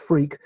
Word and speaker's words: Freke: I have a very strange name, which is an old English name, pronounced Freke, but written Freke. Yes. So if you Google Tim Freke, you will find me.